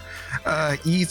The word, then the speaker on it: Ys: Ease, it's like YS.